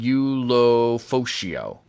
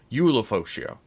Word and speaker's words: Ulofoshio: Oh, and we have a pronunciation here. Edefuan Ulofoshio. Okay. Okay, so Ulo, not Ulo. Ulofoshio.